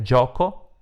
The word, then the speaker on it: gio: Il plurale di barca, che ha la terminazione CA, è barche con la H, mentre gioco è un nome maschile, GIO, perché si legge Gio.